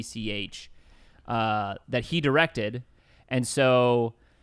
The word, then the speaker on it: Leitch: It's Leitch.